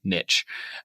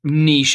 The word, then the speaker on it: niche: episode without me using the word niche as niche as many of you choose to mispronounce but we won't we